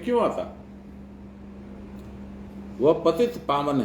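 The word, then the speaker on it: पतितपावन: हम लोग जो गाते हैं ना, पति तपावन सीताराम, उसमें कुछ कुछ लोग उच्चारण करते हैं पति तपावन सीताराम। पति को तपा देते लेकिन जो ये आपने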